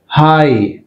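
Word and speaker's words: high: హై, హై అన్నప్పుడు జిహెచ్ silent.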